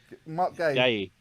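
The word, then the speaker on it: Guéhi: Mark Gay.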